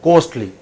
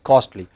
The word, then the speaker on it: coastal: Yeah, many people in Kerala pronounce it as costly. It's not costly, it is costly.